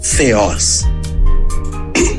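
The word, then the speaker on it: θεός: m Eloim e ceos t h e o s com acento no o feos ok devolvo a palavra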